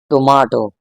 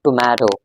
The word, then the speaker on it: tomato: इसके मुताबिक this actually pronounces tomato, tomato. In British English, it's pretty weird and strange to pronounce this word as tomato.